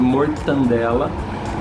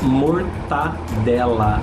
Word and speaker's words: mortadela: população a pronúncia de mortandela, talvez por uma questão de conforto fônico, né, de conforto na pronúncia, mas o ideal é mortadela, não tem esse N aí, não mortandela, mortadela seria a pronúncia adequada.